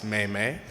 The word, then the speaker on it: Memme: name it's quite simple for the first part it's like the month of May twice Meimei and for my last